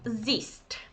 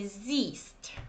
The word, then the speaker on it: siehst: Okay, but many people find it really difficult because of kind of spelling, or so you don't pronounce H and you say siehst. Okay, it's a long E.